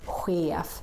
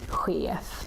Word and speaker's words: chef: Or this word, chef, which is how we say boss in Swedish, chef. So you can say that in some situations, not in all, but in some, CH, especially if they're borrowers, they can have this sound as well.